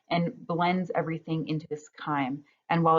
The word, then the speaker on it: chyme: C-H-Y-M-E. I know it looks like chime, but it's pronounced with a k, chyme.